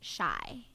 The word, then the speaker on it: Chi: Shy. Oh, Chai? Chicago? Shy? I Oh, call I her thought Shy. Like Chi-Town, Chicago. I thought it was Have you been Chi. calling her Chi like the hair product?